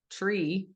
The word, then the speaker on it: tree: then we think, "Wow, why are they spelling tree c h e instead of t r, right?" But that's this is why not because they think a t looks like a ch at all. It's just because it is what they hear, right?